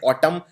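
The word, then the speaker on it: autumn: ये एन उच्चारण नहीं किया जाता। सिर्फ बोलते हैं ऑटम लेकिन आखिर में एन भी आता है।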